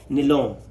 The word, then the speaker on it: Nyholm: और एक और था जिसका नाम था बेटा, एक तो गिलिस्पी, गिलिस्पी गिलिस्पी प्लस निलोम। ठीक है, जिसके स्पेलिंग NYHOLM है।